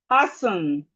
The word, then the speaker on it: hasten: Hasten.